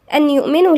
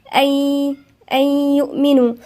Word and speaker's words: أن يؤمنوا: أن يؤمنوا، النون الساكنة وبعدها الياء، والياء مش من الحروف الاستثناء يبقى هنغن فيها، والنون الساكنة لا تنطق. فاحنا بنعمل ايه؟ احنا بندغم النون بالياء، يعني بنقولها أي، لا تنطق أن يؤمنوا، لا، أي يؤمنوا.